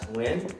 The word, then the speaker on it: Nguyen: of state hello and my name is win and it's spelled g-a-t win and n-g-u right here just